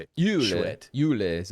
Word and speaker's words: chouette: Schwet. That's how you say it. Schwet.